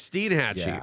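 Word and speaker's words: Steinhatchee: get that one right Steen Hatchy oh it's Steen Hatchy okay so make sure that again pronunciations and you have Cross City and then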